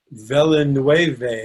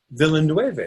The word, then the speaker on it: Villeneuve: really the trailer is dropped for, you know, Villeneuve, or you know, you pronounce it better than I. Villeneuve, yes.